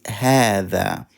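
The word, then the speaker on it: هذا: alif it's rated alif it's pronounced alif but only it's not written alif so you read it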